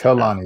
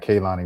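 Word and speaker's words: Kehlani: And it's Khalani. It's not Kani. We've been saying it wrong the whole time.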